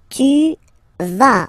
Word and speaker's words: vas: Tu vas. Final S doesn't exist. Tu vas.